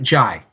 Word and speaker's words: Jai: with him in it he is pronounced it jai jai okay thank you so